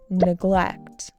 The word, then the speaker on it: neglect: Neglect. Neglect with an emphasis on the second syllable.